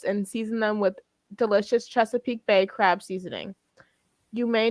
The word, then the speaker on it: Chesapeake: It says Chesapeake.